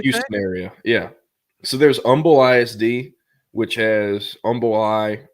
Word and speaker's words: Humble: So, there's Umble ISD, which has Umumble Eye. It's spelled humble, but you don't pronounce the H.